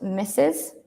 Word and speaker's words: Mrs: mean what does miss mean Miss misses is pronounced misses and it means you are a married woman